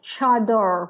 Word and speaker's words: chador: pronunciation with that esther the word is chad chador which is the persian way of saying burka so cross between the